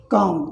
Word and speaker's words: calm: वो first one है काम। और काम होता है, यहाँ पर एल साइलेंट है डियर स्टूडेंट्स, CALM।